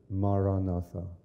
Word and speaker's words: Maranatha: recommend is the word Maranatha the oldest Christian prayer and the language that Jesus spoke Aramaic if you choose this word say it is four syllables listen to the word